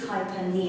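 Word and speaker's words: hyperpnea: And I'm not totally convinced I'm saying that correctly, but I think it's hypernia and that middle P is silent.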